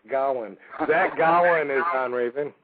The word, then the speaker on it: Gowen: He told me how to say it, and I still can't say it. It's Gowen.